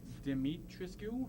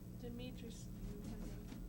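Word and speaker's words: Dimitrescu: Lady Deitrisu. I don't know. How do you say this? Demetrius.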